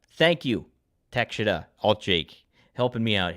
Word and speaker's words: Takeshita: It's Takeshita. Thank you, Takeshita.